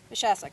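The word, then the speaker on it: Moshassuck: virtually to our labor day commemoration here at machassek cemetery am i getting that right the pronunciation pad not a native rhode islander mashasik okay good um i'm still embarrassed by some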